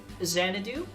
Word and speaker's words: Xanadu: i am joined by xanadu of the channel of the same name uh apparently the x is silent i learned that today i don't know about